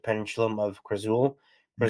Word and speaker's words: Khrazul: Firstly, I'll be working on a trilogy called Pendulum of Krazul. Yeah. Krazul is spelled Khrazul, but pronounced Krazul.